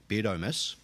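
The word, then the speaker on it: Beardomus: Not like Beardus, it's spelt differently. Beardamus, O-M-U-S.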